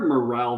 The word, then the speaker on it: morale: victories but there are morale victories right and i think did you just did you just change the pronunciation no there's an e in morale there's no ian morrow